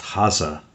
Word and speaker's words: Hase: mentioned the fact that Haas, or properly pronounced Hase in Germany, means hare or rabbit.